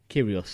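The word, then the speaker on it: Kyrgios: Nick curios Nick curios curios don't let me get curious know how to say his name right there's a cheeky G in there that's why yeah yeah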